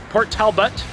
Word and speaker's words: Port Talbot: Port Talbot. There you go. There's my, I'm making sure I got my pronunciations right.